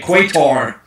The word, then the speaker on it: Qatar: Qatar? Qatar, that's right. I don't know how to say it. Or as Americans say, Quator.